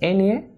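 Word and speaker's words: eñe: So the sign that you see here is pronounced as Ene as in España.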